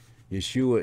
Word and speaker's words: Yeshua: Yeshua is the Hebrew pronunciation for the name Jesus.